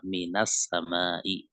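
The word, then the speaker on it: مِنَ السَّمَاءِ: "Minas-sama'i", ya. Itu adalah " mabni" pada sukun. Namun, kata ini diucapkan dengan fatha karena bertemu dengan kata berikutnya yang diawali dengan "al", ya.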